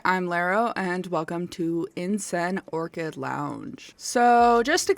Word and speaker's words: In Seine: And so then I was looking up French jokes and I came to insen. Like it's spelled like insane if you're like reading it in English standpoint, but it's pronounced like insen.